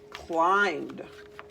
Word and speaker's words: climbed: Our next vocab word is climbed. Past tense. Climbed. So there's our base word climb. Remember that silent letter, MB.